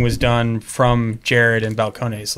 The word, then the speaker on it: Balcones: whiskey making comes from balconies and their willingness to to teach and to to to kind of ex it's pronounced balcones falcons bell cones uh and to give